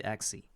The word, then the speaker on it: Axie: Actually, even the Axie has this AE at the end, which suggests the E sound. We don't pronounce him like Axe or whatever, yes, or Axe. It's supposed to be Axie.